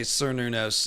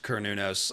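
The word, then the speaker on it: Cernunnos: A lot of people say Cernunos. It's more correctly pronounced Cornunos.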